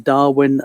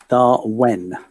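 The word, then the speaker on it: Darwen: headquarters in darwin lancashire dart when so i need lancasterians out there my apologies for the mispronunciation of that start when as opposed to darwin in australia founded in the late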